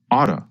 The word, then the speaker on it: ought to: in many previous episodes remember that the pronunciation changes when we talk faster ought to changes to OT for example listen to